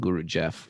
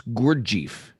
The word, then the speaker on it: Gurdjieff: Is that how you pronounce Guru Jaif? I always said Guru Jeff. But It's not guru. oh, it's Gurdjieff.